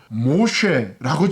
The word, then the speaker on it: Moshe: 이 어린아이, 이 강에서 건져냄을 받은 이 어린아이 이름을 모셰라고 지었습니다. 그 의미는 물에서 건져냈습니다. 모시테후 이런 히브리어로 쓰는데요. 히브리어로 이 모세의 이름이 메쉬, 끌어올리다라는 발음과 비슷합니다. 그렇기 때문에 그의 이름은 진정 물에서 건짐을 받은 사람이다 라는 뜻입니다.